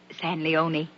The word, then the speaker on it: San Leon: Rancho San Leon. It's pronounced San Leone. Ain't written that way.